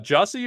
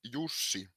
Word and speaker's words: Jesse: what's up man hello is your name pronounced Jessy or juicy it's yussi oh yussi like a y okay yeah yeah yeah